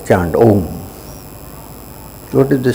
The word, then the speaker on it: Om: It says, Om, which is divided into 3 syllables of A, U and Im.